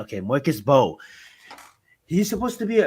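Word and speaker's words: Mbow: But before I do, I just want to say, man, Marcus Mabo. This guy is I supposed think to it's be Marcus an Bow. early Mo. No, he's the M is silent. Okay, Marcus Bow.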